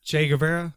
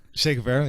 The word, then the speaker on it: Che Guevara: Che Guevara? Yeah, that's it. Yes. Am I saying it right, George? Is that right? Che Guevara, yeah.